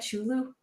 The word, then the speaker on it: Cthulhu: Chulu? a Cthulhu? Cthulhu? See, I don't even know how to say it. That's how much. Say it with me. Cthulhu.